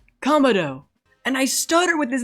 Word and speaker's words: Kamado: these people's names, because I have been calling this guy Commando. There is no N in that name. That is Kamado.